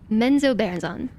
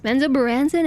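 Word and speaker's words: Menzoberranzan: So in Menzo Baranzan, actually I've heard it pronounced both ways, Menzo Baranzan and Menzo Baranzan.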